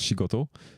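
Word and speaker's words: 仕事: So you know that this one is shi, and this one is goto, which in fact should be koto, but in a words usually you pronounce goto.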